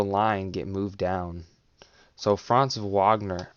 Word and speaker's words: Franz Wagner: get moved down so franz wagner wagner that that that's how you pronounce it i get it wrong every time but whenever i was at the magic game last month it's wagner so um he needs